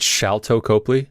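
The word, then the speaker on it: Sharlto Copley: Oh, That shot over the shoulder of, is it Shalto Copley?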